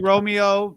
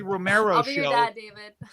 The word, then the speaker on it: Romeo: know i don't know where the mispronunciation comes from i think people just naturally want to put an r there because they can't believe that my last name is romeo because it's like so